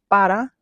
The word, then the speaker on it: para: Recently, I did a video talking about how para can come out as ba. So instead of pronouncing the RA at the end, it's cut off.